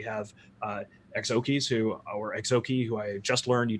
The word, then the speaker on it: Exookzi: EXO keys who are EXO key who I just learned you don't actually pronounce that see it's a silent Z that's how much I